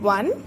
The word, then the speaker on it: one: Then one, it is giving us the sound of W, WON वाला वन जो